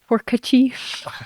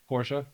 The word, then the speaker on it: Porsche: Porcachi. I get shot in the head for that one. Porsche, isn't it? Yep. Porsche.